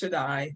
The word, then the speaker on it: Shadi: Okay, well, yeah, so my name is actually pronounced Shadi, but it's okay.